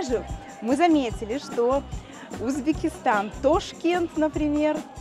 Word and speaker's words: Ташкент: А, и вообще же мы заметили, что Узбекистан, Ташкент, например, произносит...